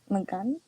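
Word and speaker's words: מגן: So the last letter is na, so the a drops off. So instead of magana, it's magan, right?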